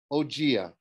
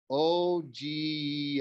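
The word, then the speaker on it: Ogygia: you are you're in ogea she pronounced it like oh g uh is that near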